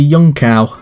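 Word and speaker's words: Junção: my favorite one if my favorite quarter name on this track has to be young cow uh just because uh it makes you sound very smart when you uh don't pronounce the j here comes alonso is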